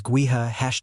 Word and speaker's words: Gowith: Gowith is Gaelic and means wind. Yes, the pronunciation is gua #fox confirmed.